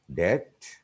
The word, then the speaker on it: debt: The third one, B is silent in some words before the grapheme or letter T. Here are some examples: debt, data, doubt, doubtful, subtle, subtly. Number 3, C is silent after S and before E or I.